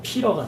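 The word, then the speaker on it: Peter: 존 말고 또 많이 쓰는 이름 가운데 피터 있죠. 미국식으로 발음하면 피러가 되겠죠.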